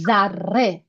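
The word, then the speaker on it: ذره: Laziz, delicious, same root of lezat, and then zarre.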